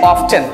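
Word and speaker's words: often: बतानी है यहाँ पे, ऑफन के दो प्रोनंसिएशन होते हैं. मेक श्योर, एक तो सिंपल तरीका है, हम टी को साइलेंट कर सकते हैं, ऑफन के यूज करते हैं, बट एक नया तरीका आया हुआ है, उसको हम यूज कर सकते हैं ऑफ्टन.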